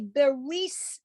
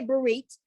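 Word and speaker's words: ברית: But if you look at the word and say beris as opposed to berit, we say berit.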